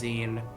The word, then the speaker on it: zine: would expect a team Google says zine like like Google has